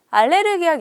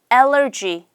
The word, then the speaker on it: allergy: 먼저 약국에 가서 저 좀 알러지가 있어 가지고 알레르기약 있어요? 이렇게 물어본 거예요. 그럴 때는 여러분 너무 간단해요. 너 있어? do you have? 쓰시고요. 뒤에다가 medicine 쓰시면 돼요. 이게 발음이 조금 어렵습니다. 알레르기라고 하죠. 알레르기 말고 allergy.